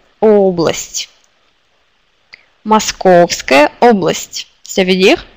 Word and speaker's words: Область: Et ici, c'est область, c'est région. Encore un mot. Область, région, avec l'accent sur O. Область.